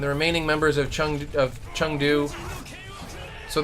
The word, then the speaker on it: Chengdu: remaining members of Chun Chun do so they both the just Chun and hum like it's the same syllable Hong Kong Joe and Chun do like it's more of a ah sound god I'm getting better